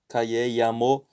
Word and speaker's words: llamo: In Spanish, double L sounds similar to Y in the English word yes, though you may hear some Spanish speakers pronounce double L as in vision or shop or jar. So calle, llamo. So double L sounds like a Y, just like in yes in English.